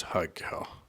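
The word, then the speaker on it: Haigha: happy his name is haa he pronounced it as to rhyme with mayor oh I love my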